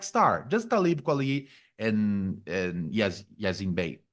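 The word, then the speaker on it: Yasiin Bey: with, just Black Star, just Talib Kweli, and Yazin Bey. Yazin Bey is the correct Yeah.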